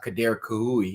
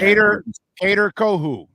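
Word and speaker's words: Kader Kohou: We talked to a guy today, and Kader Kahui, if I'm pronouncing his name right, who's actually Kader Kohu. Kader Kohu.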